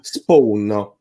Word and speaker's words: Spowkn: pronuncia? Spawn.